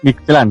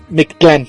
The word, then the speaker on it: Mictlán: poquito difícil la pronunciación ellos se refieren mi clan no mictlán Sí ándale Sí mictlán